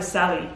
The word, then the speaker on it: Sali: Kaisa Sali. Yeah, that sounds good. It's more like Sally, not Sali.